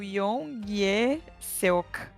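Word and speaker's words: 유연석: E é o Yong-ye Seok. Isso, essa é a pronúncia.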